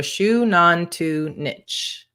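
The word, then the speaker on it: Xunantunich: mystic lets us know i knew i was pronouncing that one wrong so shu non tu nich is that correct thank you so much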